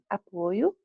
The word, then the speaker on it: apoio: Apoio e apoio. Apoio, suporte, apoio, verbo.